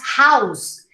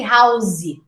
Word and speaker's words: house: not sentencey okay house did you know we pronounce house with us an s sound not a z sound you don't say house you say house i live in a